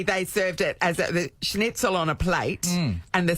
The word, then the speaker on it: Schnitzel: Like a schnitzel. Did I say it right? No. Schnitzel. Chicken.